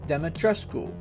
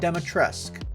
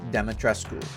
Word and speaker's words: Dimitrescu: before anyone comments I looked it up it's pronounced demetresco not demetresque the game developers got it wrong not sure how figured they would have checked that out but yes it is properly pronounced demetresco today we need to focus on sheer raw